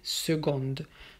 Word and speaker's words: second: première avec 2 on a deuxième ou alors second et secondes donc ici c'est écrit avec un c mais ça se prononce avec un jet second pas ce qu'on